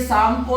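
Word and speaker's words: Tsangpo: में आ सकती है यह सांपो रिवर है सांपो ती से चलता है टी साइलेंट है शाम को रिवर चलती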